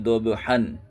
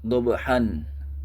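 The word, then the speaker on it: ضَبْحًا: Nah, kalau di sini bacaannya wal adiyati dobhan. Ini tidak dibaca dobhan, akan tetapi dibaca wal adiyati dobha.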